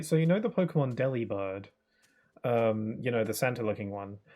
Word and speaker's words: Delibird: I recently heard someone pronounce it Delivered, which sounds like the word delivered, and Delibird, you know, delivers stuff. So is his name supposed to be Delivered? Is his name supposed to be pronounced as Delivered? Not Delibird? It kind of sounds weird. I kind of like saying Delibird, though.